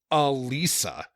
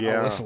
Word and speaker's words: Alissa: Uh, now they they go to the kitty corner and the bartender calls her Alisa, not Alissa like everyone else has.